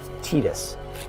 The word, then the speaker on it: Tidus: I genuinely hate to be the one to break this to you, but that is how it's officially pronounced. Again, Tetus.